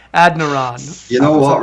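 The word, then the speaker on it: Adeniran: ad e yeah it's it's spelled ad e n i r o n so it's like adaran you know what right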